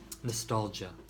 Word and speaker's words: nostalgia: note about the pronunciation the GI a sounds like J a nostalgia and the adjective nostalgic